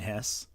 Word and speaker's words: Hesse: It's pronounced Hesse.